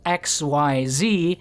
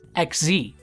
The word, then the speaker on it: XYZ: It is written as XYZ, but of course, no one with self-respect calls them that, okay? So how are you meant to pronounce it? Well, there's Parallel Xyz and Firewall Exceed Dragon. Xyz makes sense based on the mechanic's design. You exceed the level limit. Sure, easy to understand, case closed. No, it's pronounced XZ.